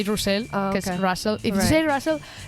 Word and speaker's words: Russell: My whole name is Russell. We say Russell because okay.